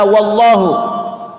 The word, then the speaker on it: Allah: allohu Nah sekarang membaca Allahu Allah lafadz Allah sebelumnya ada huruf yang berharakat fathah maka ini pelafalannya dibaca tetap tebal gimana suaranya Wow coba